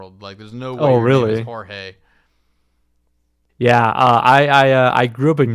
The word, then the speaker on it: Jorge: No, it is Jorge, but Really? people pronounce it. Yeah, people pronounce it George too. So either works. Wow. Like legally speaking, like what's on paper, it's Jorge.